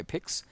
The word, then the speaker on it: P1X: brought to you by pix or p1x depending on how you want to pronounce that it's short for pixel art by the way guys